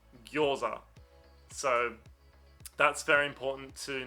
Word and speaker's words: gyoza: It's not gyoza or gyoza, it's gyo, gyoza.